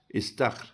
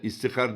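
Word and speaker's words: استخر: yolda giderken her yerde istahr İst istah deyip yani ezberleyeceksin istahr isti iskar diyenler var isir diyenler var ve farklı farklı söyleniş biçimlerini işitiyorum hepsi yanlış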